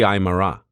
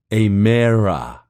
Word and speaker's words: Aymara: bolivia and peru the aymara he called them the emira elongating the name as if his pronunciation of it was the only accurate one in existence he said that the